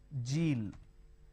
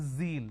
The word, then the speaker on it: zeal: don't make a mistake the moment you replace the Sir with a jar it's a mispronunciation it's not zebra it's zebra it's not John it is Zone it's not Jill it is Zeal it's a z sound another mistake that people